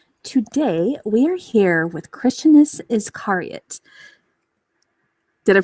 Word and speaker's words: Christianus Iscariot: Today we are here with Christianus Iscariot. Did I pronounce that right?